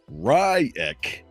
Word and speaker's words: Reich: He's got a little bit of information from Robert Ryek, is what he pronounces it, R-I-CK.